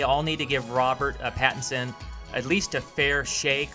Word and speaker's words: Pattinson: new Batman is captain trickster yeah it's Robert Patterson Oh Peterson Robert Robert Pattinson Pattinson that's a difficult name to pronounce so yes but there's a lot of